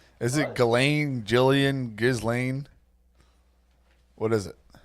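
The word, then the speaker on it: Ghislaine: Is it Galain? Jillian Gizlane. What is it? Oh, they say Galain. It's Galain, not Gilain.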